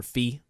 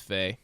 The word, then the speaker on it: Fe: For Fee? Faye and Celeste. Faye. Oh, it's Faye. That's right. It is pronounced Faye.